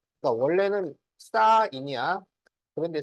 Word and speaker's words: sin: 그러니까 원래는 사인이야. 그런데 쓸 때는 앞에서 세 글자만 쓴다고. 어? 그래서 이거를 sin이라고 읽으면 안 돼요. 신. 아, 사인. 사인이라고.